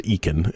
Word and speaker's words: Ekin: There's a company, and I believe they're pronounced as Ekin. It's spelled E-K-I-N.